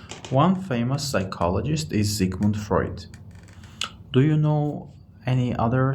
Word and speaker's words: Freud: yes and we also in Russian they say Freight in English we uh pronounce it as Freud so yeah it was Freud but his name